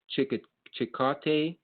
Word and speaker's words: Chillicothe: That has worked with the Military Veterans Resource Center for the last 4 years in Chillicothe, sounds like Chipotle, rhymes with.